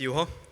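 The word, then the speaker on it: Juho: My name is Yu-Ha. Uh-huh. Uh-huh. Uh-huh. Like U-Haul? Yeah. It's J U H O. It's pretty hard to pronounce.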